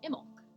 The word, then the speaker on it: Imbolc: Oh, and Carmina says it's the B is silent. Imbolc.